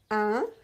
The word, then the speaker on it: un: You should not pronounce any sound n at the end. There is no n at the end. It's written n, but it's not pronounced.